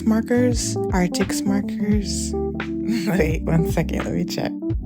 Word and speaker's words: ARRTX: how to pronounce this artics markers artics markers wait one second okay let me check okay yeah so they pronounced artics markers I'm also going to